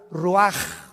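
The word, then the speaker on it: רוח: Roach así como suena se pronuncia la ch en hebreo como J ruaj se le só y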